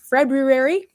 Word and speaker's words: February: Does anybody ever pronounce the second R in February?